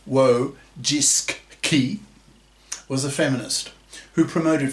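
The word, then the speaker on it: Wojcicki: former CEO of YouTube Susan wsky pronounced wo jiski was a feminist who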